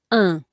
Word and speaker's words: un: So this one is pronounced un.